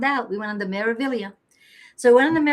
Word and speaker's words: Meraviglia: It has a G in it, but it's not pronounced Meraviglia. We found out. We went on the Meraviglia. So we went on the Meraviglia, and that ship, the